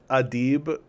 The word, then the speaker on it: Adib: You write, pronounced Adib.